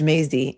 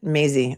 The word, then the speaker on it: Mazzei: His name is Judge Mazzei, Mazzei. That's how you pronounce it, Mazzei.